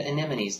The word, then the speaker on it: anemone: I mean, you pronounce it the same way you would pronounce these 4 letters in this sequence. Simple. N-M-N-E. N-M-N-E. N-M-N-E. N-M-N-E. Anemone.